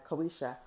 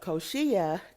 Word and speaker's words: Koshia: in my previous videos I was referring to her as Koisha, but Koshia, because she does let us know how to pronounce her name.